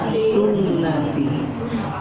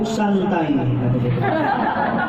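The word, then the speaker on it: سنتي: Bacanya kudu benar. Jangan orang bacanya salah, repot urusan. Apa dia baca? An-nikahu santai. Sama pun ta sama ya, dibaca santai lagi sama dia.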